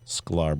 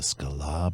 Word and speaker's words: Sklar: like the Jason Sklar we're the Sklar brothers one syllable Sklar brothers he looks at me and he's like the SKA brothers this like I guess